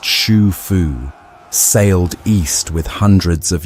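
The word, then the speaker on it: Xu Fu: One fleet led by a man named Shu Fu, pronounced Shu Fu, sailed east with hundreds of young men and women.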